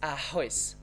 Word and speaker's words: arroz: So it's just ha, just like at the beginning of the word.